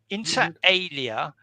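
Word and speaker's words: inter alia: And finally, Esther, uh, which And finally, Esther, here's a potato shaped like a Anyway, um, Inter I think it's pronounced interalia.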